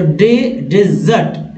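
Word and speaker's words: dessert: वाला जो मीठा है, तो डेजर्ट, डेजर्ट, डेजर्ट ये पहला है उच्चारण डेजर्ट, जबकि दूसरा वर्ड का उच्चारण है डिजर्ट, डिजर्ट, डिजर्ट, डिजर्ट, डिजर्ट, उच्चारण अच्छे से देखिएगा।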